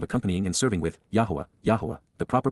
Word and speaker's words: Yahowah: the mission of accompanying and serving with yahwah yahwah the proper pronunciation of the name of eloah God as